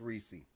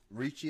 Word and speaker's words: Ricci: This man named Vince Ricci. Ricci is how you pronounce it? Excuse me. Yeah, just like Christina.